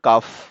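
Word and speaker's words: calf: কাফ কাফ বলা হয় সি এ এল এফ কালফ হবে না উচ্চারণ হবে কাফ baby cow ইজ কলড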